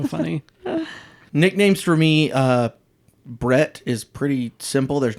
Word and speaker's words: Brett: the nickname is that everyone says my name without actually pronouncing the t's the second T Bret Brett so many people say Brent and they know it's